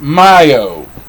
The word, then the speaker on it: Mayo: mayo m a o y m-a-o-y-m-a-y-o but it's pronounced myo the fifth fifth of may it's way single